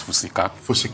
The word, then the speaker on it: Fusika: start with um the name is the correct pronunciation is fusika okay okay yes thank you for that let